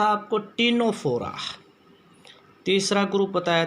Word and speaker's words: Ctenophora: तीसरा हमने बताया था आपको टीनोफोरा। तीसरा ग्रुप बताया था बच्चों, इसमें भी सी साइलेंट है, CTENOPHORA, टीनोफोरा।